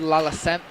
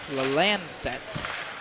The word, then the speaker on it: Lalancette: Lalacette. Lalancette is how it is pronounced.